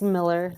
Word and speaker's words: Mueller: your last name is it's Miller they just my husband's family spells it that's right my last